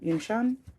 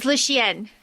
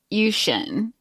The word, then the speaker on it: Yunxian: like Mei Ling and Yunxian. Is that how you say it? Audiobook ladies. Our main character, I took that as Luxian. Yeah, I think I was hearing it Yunxian. Yunxian, yeah. Yunxian. Yep.